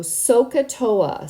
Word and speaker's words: SOHCAHTOA: here so it's called sohcahtoa so Soh is so so pronounced so ah cat like you're about to say the word cat and then tow tow ah so sohcahtoa say that word many